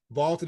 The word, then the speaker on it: VLTED: a try for free vaulted is spelled v LTE D and it is the